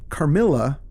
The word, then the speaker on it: Carmilla: Carmilla, so you settled on pronouncing it Carmilla, finally?